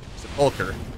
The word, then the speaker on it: sepulchre: But I want to go to the seapulkar. And apparently that's how you pronounce seulture. I've been saying my entire life cuz I've never heard anyone say it out loud, but it's apparently pronounced seular.